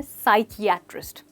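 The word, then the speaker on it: psychiatrist: Focus कीजिए दोस्तों, यहाँ पे हम कह रहे हैं साइकियाट्रिस्ट। बहुत सारे लोग इसको साइकियाट्रिस्ट बोल देते हैं, पर एक्चुअली यहाँ पर की साउंड बहुत इंपॉर्टेंट है और करेक्ट प्रोनाउंसिएशन है साइकियाट्रिस्ट।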